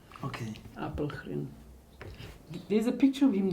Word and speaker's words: Apelgren: That's actually how the surname is spelled and pronounced, Apelgren.